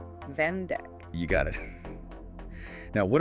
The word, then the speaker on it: vandag: How many syllables do you hear in the word vandag, meaning today? Vandag has 2 syllables. Vandag.